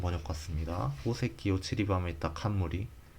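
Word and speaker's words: 冠: 칸무리 칸무리? 왕관? 칸무리라고? 이게 뭐지? 칸무리가 관이구나. 관. 갓관. 오칸 하면은 왕관이네요. 오칸토스. 뭐를 으뜸으로 치다. 이 한자는 처음 보는데. 갓관자. 모르는 게 많아서. 칸무리라고 읽는군요. 칸무리.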